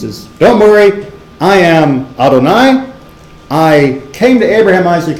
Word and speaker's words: Adonai: name which we usually pronounce which we usually pronounce Adonai Adonai right the the yud and hey and